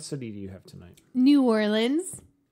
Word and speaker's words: New Orleans: New Orleans. Or as some people pronounce it, Nollins.